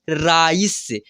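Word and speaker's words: rice: कैसे पहचान करेंगे देखिए आर आई सी ई इसको क्या पढ़ेंगे राइस स के उच्चारण हो रहा है इसको ऋस नहीं पढ़ना है रुस नहीं पढ़ना है राइस पढ़ना है राइस स के उच्चारण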